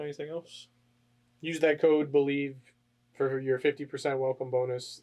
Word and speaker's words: BLEAV: Use that code BELIEVE for your 50% welcome bonus, and it's not spelled like believe. So look BLEAV.